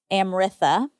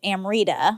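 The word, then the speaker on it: Amrita: So sometimes when there's just a T, it's pronounced th. Oh, wow. So like there was a girl in my high school, her name was Amritha, but no H.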